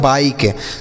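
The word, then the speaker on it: bike: किसी भी शब्द के लास्ट में अगर ई रहता है तो उसे हम नहीं पढ़ते हैं। तो ये लिखा गया बच्चों बाइक।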